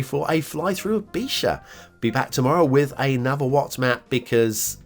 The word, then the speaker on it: Bíseach: Oops, different parts of Ireland pronounce it differently. I'm going with the Ulster variation there because Ulster is well, mostly part.